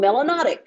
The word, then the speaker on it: melanotic: in your skin you should be called melanotic which rhymes with exotic so come on people